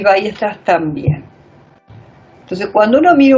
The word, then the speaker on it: Weierstrass: Para pronunciarlo así, Weierstrass.